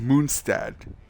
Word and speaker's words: Mondstadt: And yeah, guys, apparently to pronounce Mondstadt correctly, you have to say it in his German name, which is Moonstad.